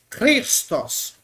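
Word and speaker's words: Χριστός: duvido aí ISO mesmo cristos cristos cristos aí pro português é cristos Ó cristos mas não é Cristo no Grego é cristos cristos cros cros cros Oi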